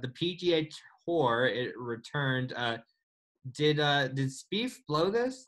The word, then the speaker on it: Spieth: Did Spieth blow this? Like, how do you say it? Spieffy? Spieth. Spieffy. Good. Kind of, but like he